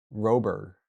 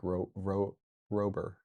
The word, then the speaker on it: Rober: Oh, Mark Robber.